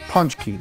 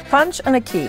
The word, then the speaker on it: Pączki: So we wanted to know a little more about Pączki. Am I saying it right? You are. Punch and a key.